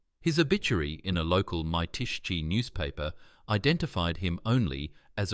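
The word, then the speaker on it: Mytishchi: Vulov lived the rest of his life in a one- room apartment in Mitishchi, pronounced Mitishchi, a Moscow suburb.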